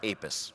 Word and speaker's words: APES: It's pronounced APES.